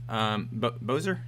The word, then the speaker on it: Bozer: Bozer?